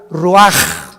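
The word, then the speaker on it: רוח: y exhaló Isaac el Roach así como suena se pronuncia la ciah en hebreo como j roag se les halló y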